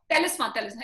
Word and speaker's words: Telesma: Thelisma, am I right with the pronunciation? Telesma, yeah.